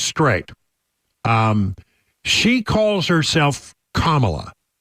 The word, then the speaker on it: Kamala: my my pronouns are so she says Kamala right so we're going to call her Kamala I have been right all along and there are some people who thinks it's Kamala but that's not what she says right we're we're in agreement I think some people just want to say it wrong in well like Donald